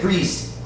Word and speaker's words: greased: Okay, greased. Greased. The E is silent. No swing of the A.